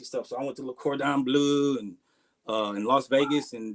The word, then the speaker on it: Le Cordon Bleu: No, it's Le Cordon Bleu.